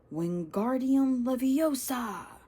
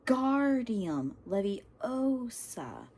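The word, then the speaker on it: Wingardium Leviosa: "Wardium Leviosa!" he shouted, waving his long arm like a windmill. "You're saying it wrong." Harry heard Hermione snap. It's when guardium levy oa make the gar nice and long.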